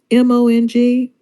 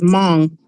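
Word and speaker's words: Hmong: do you pronounce that h m o n g i I always forget how to pronounce it just it's Mong yeah is kind of silent but it's Mong the okay Mong people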